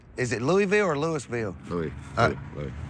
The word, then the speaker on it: Louisville: Louisville. The S is silent.